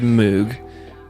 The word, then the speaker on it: Moog: You said Moog.